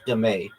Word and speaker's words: dame: Also known as demay.